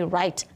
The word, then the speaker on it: write: So, WR says R, and that's my rose card. So if you're looking at the sound spelling card in your classroom, the WR is with the rose card because it says the R. But remember, the W doesn't make any sound. It's a silent letter or a Ghost letter, you're right.